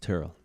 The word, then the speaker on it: Tyrrell: tyrell podcast but my name is pronounced tyrell but you can say it any way you want i don't care that much yeah you